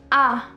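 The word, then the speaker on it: à: course a grav and this is pronounced as ah ah this is used for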